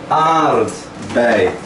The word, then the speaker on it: aardbei: Aardbei. Tá faltando um D aí. Porque às vezes na pronúncia tem gente que fala aardbei, mas o correto é aardbei.